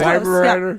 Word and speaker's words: Weimaraner: And Daisy's my Weimaraner. And Beautiful. I Weimaraner. love that. Yeah. That's Have her you name. seen Best in Show? Isn't that her name? When you're drunk. Close, Weimaraner.